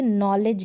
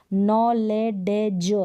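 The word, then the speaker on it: knowledge: है क्या है साइलेंट जैसे की नॉलेज है नॉलेज दी का साउंड आता है दी का डी साउंड आता है नहीं आता दी का देश साउंड नहीं आता दी साइलेंट है जिसे पहले है जिसे पहले दी है इसलिए साइलेंट है अब इसको देखिए पॉरिज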